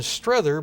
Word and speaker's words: Strother: the same and have settled on the pronunciation Strether because I consulted with hunter lesser who is quite the expert on the first campaign in the Civil War and has personal acquaintance with some of the descendants and I'm copying the pronunciation from what he said the family members had used I first discovered the